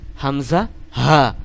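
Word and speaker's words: همزة: আপনি অক্ষরটি উচ্চারণ করতে শেখেন, হামজা হা, হামজা হা, এরকম উচ্চারণ করতে শেখেন।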